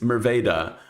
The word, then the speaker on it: Merwede: say this right because I believe that it's pronounced as the Dutch should pronounce it, which is Merwede. My American brain is going to probably say Merwede at some point in time, but Merwede is how I believe this is pronounced.